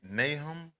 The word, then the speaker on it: Nahum: Um, you know, um, and am I pronouncing this right? Nahum.